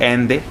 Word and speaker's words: Allende: तो प्रोनाउंस किया जाता है एंडे, मैं एलेंडे बोल रहा था।